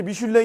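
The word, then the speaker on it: Michelin: 인데 원래 이게 이제 미슐랭 이 프랑스 발음 인데 하고 오시는 걸 미칠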